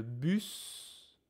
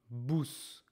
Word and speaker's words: bus: Careful. This is not boost. We talked about this in the past. Really take a moment to make sure you are not pronouncing this ou this is not boos. We have talked in detail how to make the sound u. U u us U us. Bus bus. Ok. Pas bous. Bus.